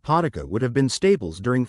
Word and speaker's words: Potica: Potica, pronounced Potica, is more than just a pastry, it's a symbol of Slovenian identity and hospitality.